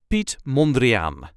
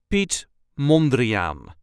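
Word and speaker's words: Piet Mondriaan: pronunciation is the same Pete mandrian there is a slight emphasis on the first syllable of the last name Pete mandrian pet monan pet monrean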